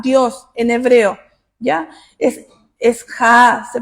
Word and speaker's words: Jah: Es Jah, se pronuncia.